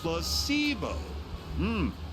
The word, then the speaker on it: placebo: to our vocabulary today repeat after me placeo the stress is on the middle syllable very good you're figing